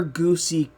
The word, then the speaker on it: Goosey: Well, Goose is it's yes, it's spelled Goosey, and he does answer to Goosey. But is it pronounced something different? It's actually just Goose. The C Goose. Is, it's like Goose. The double E is silent.